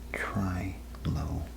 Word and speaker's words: trilobite: Trilobytes, pronounced trilobite, meaning three loes.